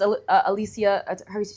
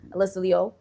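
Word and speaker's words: Alysa Liu: You know, everyone says Alisia you say it properly like Alysa Leo the skys the skater.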